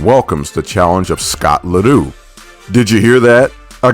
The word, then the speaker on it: Ledoux: The Easton Assassin welcomes the challenge of Scott Ledoux. Did you hear that? I got the pronunciation right this time.